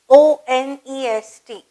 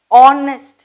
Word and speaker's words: honest: HONEST. நான் எப்படி pronounce பண்ணேன்? honest. H is silent and we say honest.